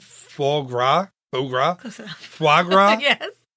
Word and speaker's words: foie gras: Foie gras?